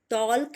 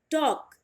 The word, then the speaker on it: talk: नाउ the next word is TALK, टॉल्क नहीं, टॉक, टॉक, जिसे आप हिंदी में बोलते हो बात करना, टॉकिंग, टॉल्किंग नहीं बोलोगे आप, टॉकिंग, टॉक करना, टू टॉक, क्लियर।